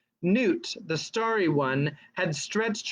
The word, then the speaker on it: Nut: one sorry it's nuts i think or newt newt that's how they say her name newt the starry one had